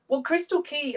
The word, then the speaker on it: Crystal Chi: have created is called crystal chi am i pronouncing that right yeah crystal key um i was probably